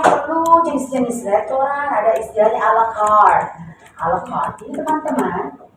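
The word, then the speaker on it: à la carte: Coba mau didengar, dia berarti dia ada bahasa juga, pronunciation Prancis, ya French, dengar. A la carte. Tapi ketika dia adopsi menjadi bahasa Inggris, sudah bukan bahasa Prancis lagi, coba dengar.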